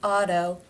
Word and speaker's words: auto: difference Auto a tone in the first word it is pronounced as a D and in the second